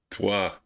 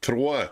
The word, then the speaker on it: trois: Toi. No. Oh, you need an H? No, an R, and they roll it. Trois.